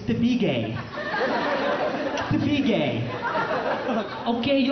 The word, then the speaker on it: Tabigue: mom says it my mom's like you're not pronouncing it the Filipino way it's not the beig it's to be gay to be gay okay